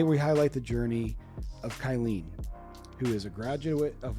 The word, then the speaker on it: Kylene: So Kylene it's not like a bad name, but for me, it's actually full of very common syllables. Kylie is a more common name, and E is kind of een and is very, very